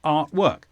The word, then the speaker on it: artwork: but we also have artwork the stresses on Art artwork and this is a noun